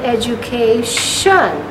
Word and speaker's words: education: boy deserves a good education what happened to that t with an eye it became so this is called sh the tall one because t is soft